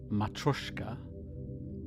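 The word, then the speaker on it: matryoshka: Matrioska dolls, otherwise known as Russian nesting dolls, otherwise pronounced as Matroska, can be a symbolic and creative tool to get you exploring the lengths and breadths of yourself.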